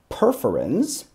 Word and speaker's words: perforin: really kind of cool it uses what are called perforin and that sounds like the word perforate that's exactly what it